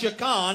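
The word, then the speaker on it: שכן: And it means S-A-K-A-N, pronounced Shakan in Hebrew.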